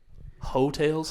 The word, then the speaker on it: Heaux: Hotels? Hotels, like hoe, but it's spelled like hoax. You know, like a UX in there.